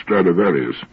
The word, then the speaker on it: Stradivarius: Ask anybody if he's ever heard of Stradivarius, which is the Latin pronunciation of the name.